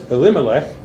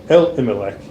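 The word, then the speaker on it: Elimelech: The name of the man was Elimc or El Elimch is really proper way to say it.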